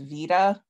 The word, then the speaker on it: beta: So for example, if I type the beta character in a Word document, VoiceOver can read it, but it doesn't read it as beta. It reads it as vita.